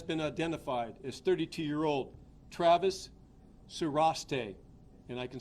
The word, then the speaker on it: Sarreshtheh: He has been identified as 32-year-old Travis Sureste, and I can spell that for you.